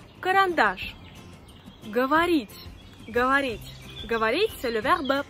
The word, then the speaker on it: говорить: Говорить. Говорить. Говорить, c'est le verbe parler. Говорить. Говорить. Les voyelles O qui ne sont pas accentuées deviennent A. C'est pour ça qu'on prononce говорить. Говорить.